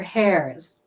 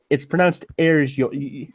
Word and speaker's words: heirs: He pronounced it the Queen and all her hairs. I watched that swearing-in ceremony, and I wanted to scream at him like, Crap. "It's Fuck. pronounced heirs."